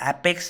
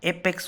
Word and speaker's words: apex: सो एपेक्स नहीं होता, एपेक्स होता है।